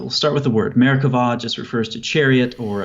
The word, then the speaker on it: Merkabah: doesn't have something called a doggish so it's pronounced America vow with a V sound but if you type it in Google for whatever reason you'd want to do that it's about the bee as in America bah so like I said it refers to a